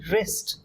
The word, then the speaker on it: wrist: ये देखिए, WRIST, रिस्ट. W is silent. W silent होता है, W को हम यूज नहीं करते. वी से रिस्ट.